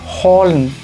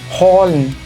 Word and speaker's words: holen: Devolviéndonos a la H sí suena en el alemán y es el sonido J. Esto lo leemos holen, holen. Cuando tenemos CH al final se lee sh.